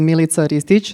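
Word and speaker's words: Milica Ristić: come from Serbia and my original name is military Stitch that's how I pronounce it but everybody knows me here as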